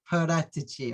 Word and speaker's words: Paratici: Pronounce it from the Tottenham, Italian probably. way. Paratici, okay?